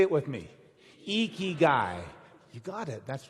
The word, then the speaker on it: Ikigai: pronounce it it's pronounced eeky guy you lift your cheeks like you're smiling it's eeky guy say it with me eky guy you got it that's